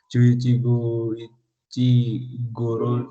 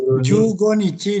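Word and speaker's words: 十五日: Inaba wa taitei hachigatsu juichi sannichi kara juichi goro ni. Kak, saya kelihatan. Jugo nichi dibacanya, bukan juichigo. Juichigo berapa? Jugo nichi.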